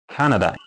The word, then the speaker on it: Canada: So, for example, this word, because it's a noun, language say that we need to stress the first syllable, C-A, ka. Then these 2 should be short. Canada.